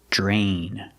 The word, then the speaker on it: drain: pasta pronunciation we see Dr together makes the JJ sound like jump and Juice JJ plus the r j drain other things you can